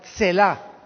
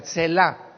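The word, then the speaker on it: צלע: La palabra costilla es la palabra hebrea Tselá, con T de tío y S de Samuel. Tetzlá se pronuncia, Tselá.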